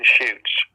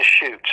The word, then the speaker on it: Chutes: And then the damn picture came out of the Beast of Seven Shoots. Mm-hmm. You can look it up online, the Beast of Seven Shoots. And its Shoots is spelled Chutes.